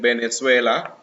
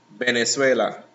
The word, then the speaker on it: Venezuela: produce a letter b so in spanish it's almost a mixture too to say to say the letter b and v so you hear people saying venezuela it sounds almost like venezuela just like the lips more likely yeah bottom lip touching your top teeth and the tongue is already frontal remote venezuela so another different pronunciation